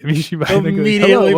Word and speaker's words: Yami Shibai: Yami Shibai. Yami Shibai.